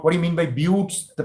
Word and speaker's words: buttes: buttes b-u-t-t-e-s what what do you mean by buttes the pronunciation is view buttes buttes remember a butte is an isolated hill